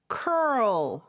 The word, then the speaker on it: curl: curl.